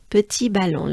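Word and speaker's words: petit ballon: might know petite so petit balon let's let's break it down we need to pronounce the uh sound we need to move our jaws and mouth forward it's a forward movement of your jaws and your mouth let's try together with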